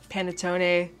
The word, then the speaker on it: panettone: wintertime Christmas signature scent oh it's so nice panettone right that's how you pronounce it that almond uh cake kind of